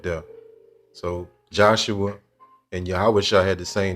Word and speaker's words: Yahawashi: We don't use E, O, U, and V sounds in ancient Hebrew. So it'd be Yahawashai.